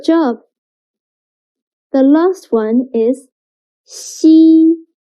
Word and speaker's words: xi: Xi sounds a little bit like the first sound of sheep, but when pronouncing xi, again, your tongue should be more flat, and you need to stretch your mouth to two sides.